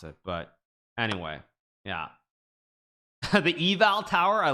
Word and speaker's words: Eiffel Tower: say at the I we say Eiffel Tower but that's not how you pronounce it of course uh Europeans know how to pronounce it but anyway yeah the eval Tower I like the eval